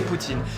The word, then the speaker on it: poutine: Dis-moi, quelle est la bonne façon de le prononcer ? En française, c'est poutine.